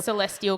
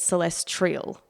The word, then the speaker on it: celestial: I was like oh I've been adding a letter and pronouncing it wrong my is so the word is meant to be Celestial like for astronomy c a Celestial calendar or something I've always said celestrial oh okay that sort